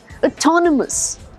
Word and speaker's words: autonomous: नहीं, ऑटोनोमी भी नहीं होता, ऑटोनोमस भी नहीं होता, ऑटोनोमी, autonomous. The stress is on the second half of the word. Autonomy, autonomous. Okay?